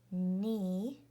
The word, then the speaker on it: knee: And remember that W-R together says and the W is a ghost or silent letter, and K-N or G-N says N, and the K is a silent or ghost letter.